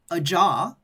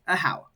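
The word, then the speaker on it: Ajaw: this little Dino's name is a how and it's spelled a jaw a jaw but it's pronounced a how so now you folks know that if if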